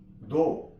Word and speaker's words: though: थ्रू, light, जी silent है, light. दो, THOUGH, दो।